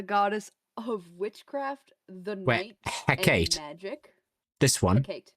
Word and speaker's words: Hecate: Hecate, which is how apparently you say her name, is the goddess of witchcraft, the night, Hecate.